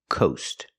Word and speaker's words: coast: go to the ocean you see the coast using the long o sound like no and go Coast let's hear that